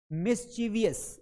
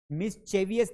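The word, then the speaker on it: mischievous: तरार्थी को हम बोलते हैं मिसचीवियस। ये मिसचीवियस है। मिसविवियस नहीं है। यहां पे चे नहीं पढ़ना है।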